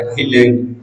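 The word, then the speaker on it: island: आइलैंड, इसमें एस हमारा silent होता है, आइलैंड।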